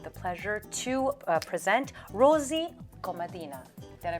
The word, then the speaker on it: Komadina: and I have the pleasure to present Rosie Komadina. Did I pronounce that correctly?